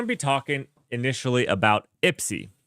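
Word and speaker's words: IPSIE: We're going to be talking initially about IPSI. That's how it's pronounced. I haven't asked anybody. I have just decided we're calling it IPSI. It was either that or IPC, which IPC is just confusing.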